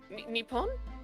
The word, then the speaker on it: Nippon: Nippon? Yep. That's how you pronounce that right.